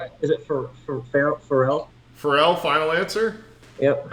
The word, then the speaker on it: Pharrell: Pharrell, final answer. Yep. A guy that Bradley would often pronounce Farrell, I'm sure, is correct. Pharrell is correct.